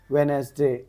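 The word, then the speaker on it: Wednesday: B silent हो गया वेनसडे वेनसडे बोलते हैं अपन तो डी यहां पे क्या आ जा रहा आवाज नहीं आ रही डी की न एसडे आ रहा सो डी अपना क्या हो गया साइलेंट हो गया नाइफ के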